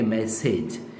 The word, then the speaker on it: message: जिस तरीके से आपने हम कहते हैं कि मैसेज, इसको सेज ना कहें, इसे सिज कहें, सिज, इज इज is rather than as.